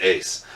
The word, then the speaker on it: Uys: hello and welcome back it's another graphic novel review by me Andrew Ace you spell my last name u-y-s but yep it's pronounced Ace you can find me online Twitter Instagram the whole shebang at uys 999.